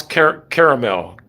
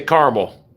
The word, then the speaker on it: caramel: How do you guys pronounce caramel? I say caramel, 2 syllables. A lot of people say caramel.